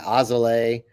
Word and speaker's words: Alzolay: Yeah, Ozole.